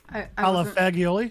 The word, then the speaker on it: fagioli: was calling it pasta fagioli yeah I haven't told her how it's pronounced G so GI in Italian is a j sound in English j a j sound